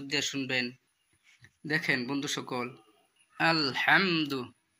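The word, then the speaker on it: الحمد: শুনবেন দেখেন বন্ধু সকল আলহামদু এখানে বড় হা আছে বড় হা উচ্চারণ করতে হবে আলহামদু লিল্লাহি রাব্বিল রব্বিল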